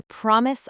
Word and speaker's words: promise: The stress is on the first part. Promise, not promise.